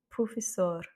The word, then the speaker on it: professor: Ici, petit piège, professor. Parce qu'effectivement, il y a un R à la fin, et donc le R, c'est la dernière voyelle qui prend l'accent tonique. Professor.